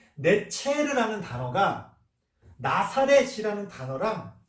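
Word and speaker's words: נצר: 이 가지라고 번역한 이 단어가 히브리어 원어로 발음하면 네체르라는 말이에요.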